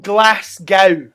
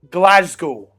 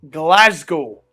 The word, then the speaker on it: Glasgow: whatever I'm from Glasgow not glass Gau all you Americans you you foreign people to me Lady Gaga came to Glasgow and she said Glasgow you'll need to pronounce it better spell it like this okay in your head g l e z g o Glasgow Glasgow say it like that if I hear